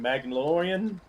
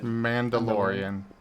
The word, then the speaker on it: Mandalorian: Magnalorian. Magnaan. Mandalorian.